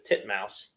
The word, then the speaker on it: titmouse: and misleading names is tit Mouse tit Mouse it's a bird was that how it's supposed to be said yeah there's no other pronunciation it is spelled titmouse it's titmouse there you go yeah I